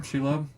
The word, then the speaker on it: Shelob: Shelob?